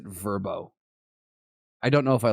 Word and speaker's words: Vrbo: verbo god bless verbo i also thought it was vrbo i never knew they pronounced it verbo i don't know if